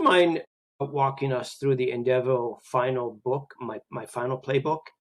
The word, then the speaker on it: ENDevo: So we say ENDevo, just think of end of life development, that we are trying to develop your end of life plan.